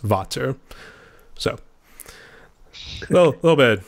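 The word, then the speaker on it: Vater: that's why when people say there you go Vader sticks I always think I always think of him but it's meant to be pronounced Vato so well a little bit a little bit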